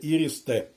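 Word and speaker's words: IRIS-T: а не irist T бо якщо так це латиницею написано але ж це німецька система а ее в німецькій мові все ж таки і не читається як ай і т не ті все ж таки ірс Т ну це моя така точка зору нікому не нав'язуваю Але я вважаю що правильно буде іріст т е далі танки БМП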